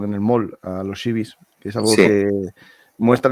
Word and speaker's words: Seabees: S pequeña al final, al pronunciarlos en inglés suena Sea Bees, que se puede traducir como abejas marinas o abejas del mar.